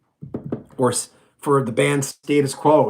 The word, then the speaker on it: Status Quo: Or for the band Status Quo, it's not Status Quo, which a lot of North Americans say. It's Status, right?